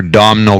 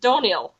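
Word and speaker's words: Domhnall: makes sense yeah or dominal Gleason I'm a big dominal Gleason fan are you from what I like Tom yeah although it's pronounced donil apparently I have no idea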